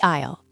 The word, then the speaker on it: aisle: The isle a i l e. The s is silent.